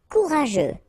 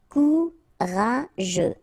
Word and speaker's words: courageux: Courageux, final X not pronounced. G-E-U together, they will give you this je, okay? Courageux, courageux.